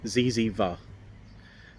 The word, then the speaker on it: zyzzyva: I'll try and pronounce it right, and I'll spell it out for you as well. It's Ziziva.